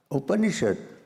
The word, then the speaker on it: Upanishad: Upanishad consists of 3 syllables. The first one is Upa. The second one is Ni. And the third one is Shad.